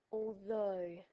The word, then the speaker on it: although: words throughout this video the GH is silent this means you cannot hear it so the first word here is although I like pasta although